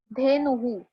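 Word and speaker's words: धेनुः: Okay, तो first है धेनुहु। धेनुहु, देखो नु है, नु इट्स इन उ and hence that to dots will be recited as, यहाँ पे देखो ये जो डॉट्स है दोनों, उसको मैं रिसाइट करूंगी हु।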